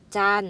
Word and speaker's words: จันทร์: คะ นอ หนู การันต์ จัน อ่าน ว่า จันทร์ ก็ หมาย ถึง พัน